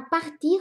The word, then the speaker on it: part: 那 partir 它的动词变位规则